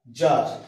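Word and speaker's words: czar: আবার ক্লিক, সিএলআইসি কে, সি এর উচ্চারণটা নেই। জেড এর ব্যাপারে দেখি, সি জেড এ আর, জার, বলা হয় জার, জার।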